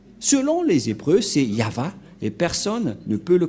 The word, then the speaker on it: Yahvah: et et va V voilà le nom de yava prononcé par le grandpère Moché yava donc voilà nous